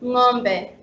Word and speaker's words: ng'ombe: Yeah, so NG apostrophe makes the sound ngo, like in Swahili word ng'ombe, which means cow.